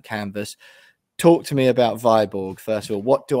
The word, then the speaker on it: Viborg: So I'm already pronouncing it wrong. That's item one to note. It's not Viborg after all. Right, Viborg, go on. Viborg, yeah, that's lesson number one.